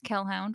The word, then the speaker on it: Kelhound: I'm on Twitter as Kelhound, which is spelled like Hellhound but with a K.